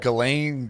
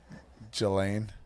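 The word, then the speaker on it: Ghislaine: Is it Galain? Jillian Gizlane. What is it? Oh, they say Galain. It's Galain, not Gilain.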